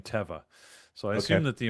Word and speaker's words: Teva: I went to the website and I was watching a bunch of employee videos and they were saying Teva. So I assume that the employees know how to pronounce it.